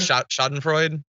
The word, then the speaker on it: Schadenfreude: How do you pronounce that word? Schadenfreude.